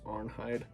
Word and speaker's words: Arnheid: bit of research so i think the correct pronunciation of her name is arnheid so that makes sense um arnheid her husband comes back